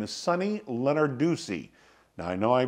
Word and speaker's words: Lenarduzzi: Her name is Sunny Lenarduzzi. Now I know I pronounced it wrong. Think of Lenard with U Z Z I at the end.